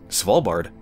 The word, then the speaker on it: Svalbard: Well, it's nice to know I didn't really mispronounce Svalbard. I mean, he had kind of like a little twist on it, slightly, that I wouldn't even know how to begin replicating, but the basic pronunciation is Svalbard.